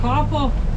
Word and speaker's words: Qaqortoq: Qaqortoq.